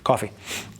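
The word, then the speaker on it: Ko-fi: if my the question was what about uh Kofi Kofi I don't know how to pronounce KFI sure yeah coffee it's still a donation platform is there a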